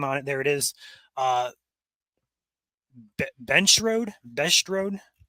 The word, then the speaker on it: Bensch: Bench Road. Can't pronounce that correctly, but it's BENSCH.